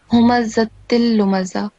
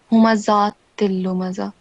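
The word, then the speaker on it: همزة لمزة: So first of all, in the first verse here, it's humazatil lumaza, and on top of here we just have a fatha stroke, but you said humazatil lumaza.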